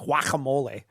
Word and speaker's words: guacamole: when She she says does that, she or- doesn't pronounce the G in guacamole. It's just guacamole. So it sounds like whack-a-mole.